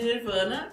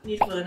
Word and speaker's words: Nirvana: Falando de Nirvana, Nirvana é uma palavra que tem a mesma grafia em inglês e em português, só muda um pouco a pronúncia. Em português, nirvana e em inglês, nirvana.